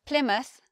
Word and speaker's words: Plymouth: But we change the way we say the word mouth when it's at the end of the word, when it's at the end of the place name. It sounds different to how you would expect. We have Plymouth, Bournemouth, Yarmouth. So instead of mouth, it becomes muth. We have the schwa there.